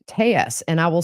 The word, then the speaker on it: Telles: jump in Robert clarified today his name is pronounced Tes and I will say Robert tus is the